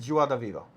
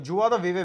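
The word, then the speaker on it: joie de vivre: चलो next word, that is जुआ द वीवा।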